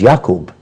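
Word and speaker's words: Yaqub: of yakob or Jacob we put a j sound for the wise that's English his name was not Jacob it was yakob his son's name was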